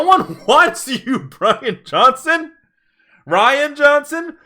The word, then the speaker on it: Rian: wants you broken Hudson Rian Johnson your name that should be Brian but it's spelled RI a n Dolan